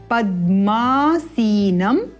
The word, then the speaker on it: पद्मासीनम: ये क्या है? द के पद में म है, पद्मा, इस प्रकार पद्मासीनम।